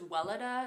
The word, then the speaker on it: Weleda: So I think this is Weleda is how I pronounce it.